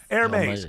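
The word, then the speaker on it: Hermès: I'm a Hermes. Hermes. The fact that the Hermes the Herpes bag is uh I mean I mean you look at how you say it. Airmes.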